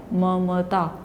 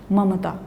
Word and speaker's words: ममता: गलत हो जाता है वहां हम अन की ध्वनि नहीं बोल रहे हैं तो क्या है ममता ममता इस तरह से उसको